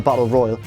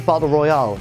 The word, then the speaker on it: battle royal: blonde PA mentions a battle royal watch how he pronounces it he says barber Royale like the popular Japanese novel on film yeah as if he's at